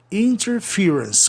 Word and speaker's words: interference: Interference. Cuidado. Aí se mantém, viu? Mantém a pronúncia do verbo.